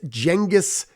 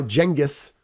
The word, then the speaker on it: Genghis: Now, Genghis, or Genghis, right? This is one of those terms when you pronounce it correctly, other people think you're dumb because they think you're pronouncing it incorrectly. So whatever. Genghis Khan is actually how you say it, according to the book anyway, or Genghis Khan.